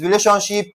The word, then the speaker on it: relationship: The formula is similar. They are stressed on the third syllable before the last.